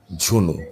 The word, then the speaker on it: ঝুনু: অন্য কিছু ভাইবেন না ঝুনু ঠিক আছে এটার উচ্চারণ হবে ঝুনু সোজা কথা দেখেন আমি